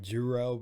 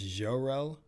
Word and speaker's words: Jerrell: is jerrell it's like people say like juro but it's spelled j-r-e-l-l and it's french it's jorel so it's like that it's like genre right here a little bit